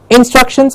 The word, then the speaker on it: instructions: is perfect instructions not instructions but instructions struck gets a cloud jump up in struck shins that's how you have to say it you have to say it with a little more force a higher pitch the struck gets up